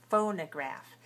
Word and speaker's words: phonograph: say fo no phone phonograph and we have a third syllable which is unstressed but clear right clear so we don't say phone we say ah phonograph and it rhymes with photograph and take your photograph